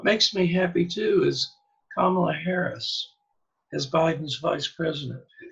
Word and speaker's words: Kamala: He was saying Kamala, and the person he was talking to corrected him. It's comma, like the punctuation mark, he told Tucker, and la at the end, Kamala.